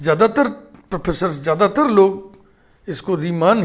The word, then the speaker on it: Riemann: कि एनिस्टन का उच्चारण नहीं होना है ए साइलेंट तो हम सिर्फ रीमा बोलेंगे लेकिन ज्यादातर आफ थिस ज्यादातर प्रोफेसर ज्यादातर लोग इसको रीमान ही पड़ते हैं तो हमने भी हिंदी में